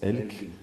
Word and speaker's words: Elg: Ouais, Elk, ouais, que je prononce Elk, ouais, qui veut dire l'animal, l'élan en norvégien, ouais.